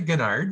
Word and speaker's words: Ginyard: So please welcome Ronald, I'm going to get it wrong, Ginyard? That's pretty good. It's actually Ginyard. That's how I pronounce it.